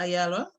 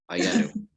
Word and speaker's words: Ayalu: And then if I could turn to Ayala, I'm not even sure if I'm pronouncing your name correctly. Can you please school me in how to pronounce your name? You're almost there, Ayalu.